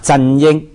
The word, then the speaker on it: 振英: 嗯，因为振英的广东话发音就是啊，振英，就英文的 CY，振英哈，这样子。